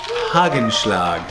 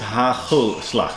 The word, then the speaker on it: hagelslag: thinks he just came from Germany, but no, it's hagelslag. So a little more. Ooh. That's good, eh? Too big a bite. So you have to pronounce it as hagelslag, and then it's back in the throat.